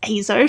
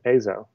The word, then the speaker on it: EIZO: we're talking about azo where and that is azo for anyone that's wondering a to z azo yes that's right that's right it's always very